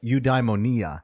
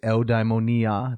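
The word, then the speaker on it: eudaimonia: uh meaning happiness or udeimmonia right? So I can't usually pronounce it that way because I want to say eldimonia the Greek Greek pronunciation.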